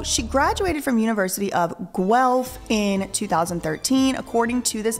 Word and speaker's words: Guelph: and we'll put that up is University of Guelph is how y'all said it's pronounced I would have never thought that that